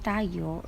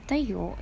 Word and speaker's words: tayo: Now think if where is the stress sound of the word tayo? It is in the first syllable or in the second syllable. I will give you 5 seconds to think. The correct answer is in the first syllable. Tayo word have rising intonation in the first syllable, and that is why we pronounce it as tayo.